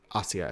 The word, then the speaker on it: Asia: Namely, this character's name is Asia Arento. I think they pronounce it Asia in the dub. If you know anything about the actual Assia Arento, her name is pronounced Assia if I remember correctly.